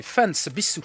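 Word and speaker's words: ファンサービス: Fanservice, prononcé fansbisu en japonais, ou fanserve, est un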